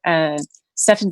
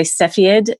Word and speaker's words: Cepheid: And then I did some research on pronunciations for Cepheid variables. It's really interesting because Americans and Brits pronounce it differently. You'll see people say Cepheid instead of Cepheid.